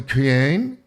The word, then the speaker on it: Kaen: This is called the Cain. It's spelled Kaen.